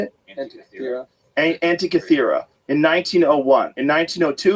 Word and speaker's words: Antikythera: Was the Antikythera mechanism.